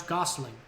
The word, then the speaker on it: gosling: it how you pronounce gosling gooseling it's not goosely it's gosling they're fuzzy okay so